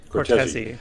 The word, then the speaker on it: Cortese: Am I pronouncing that right, or is it Cortese? That is right. Cortese, yes.